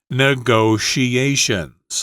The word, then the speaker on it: negotiations: Negotiations. Okay, I try to pronounce that word with all those sh sounds in there.